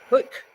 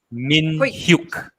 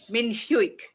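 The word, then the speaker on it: Min-hyuk: there's any chance we see the likes of Hook? Is that how I say his name? Hook today in the starting 11. Min Have I said Hyuk. that wrong? Min Hyuk. Min Hyuk.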